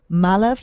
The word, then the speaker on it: Malav: wonderful oh thank you malav like alive that's how you pronounce his name and that's that's what